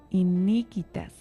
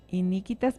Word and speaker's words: iniquitas: La palabra proviene del latín iniquitas. A ver si lo pronuncio bien, padre. Dice, la palabra proviene del latín iniquitas, pero tiene la U. Iniquitas.